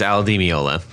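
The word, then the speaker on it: Al Di Meola: you say his name al D'Amelio will edit this this part right for the record it's Aldi me Olaf LD be is not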